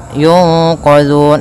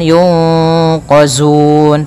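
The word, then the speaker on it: يُنقَذُونَ: Hati-hati dalam pelafalan zal, jangan sampai dibaca dengan zai. Jangan yunqazun, tapi dia yunqazun.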